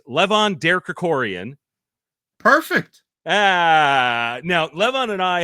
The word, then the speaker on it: Levon Derkrikorian: It's Levon Derkrikorian.